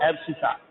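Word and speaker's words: abscissa: एब्सिसा। इसकी spelling होगी ABS CI, ABS CI एब्सिसा।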